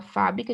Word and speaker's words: fábrica: Fiquei sabendo que aquela fábrica de cosméticos fabrica meu batom preferido. Fábrica, substantivo, Fá é a sílaba mais forte, uma proparoxítona, a gente sabe que toda proparoxítona é acentuada.